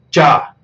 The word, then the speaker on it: cha: La primera, cha, tiene la A aguda, es decir, se tiene que pronunciar cha, cha.